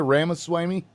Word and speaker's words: Ramaswamy: or the uh vivec uh how do you pronounce his last name Tim Rama Swami ramaswamy Rama Swami yeah I'm really bad about pronouncing